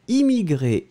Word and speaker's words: immigrée: Immigré masculin, immigré féminin, ce sera prononcé de la même façon.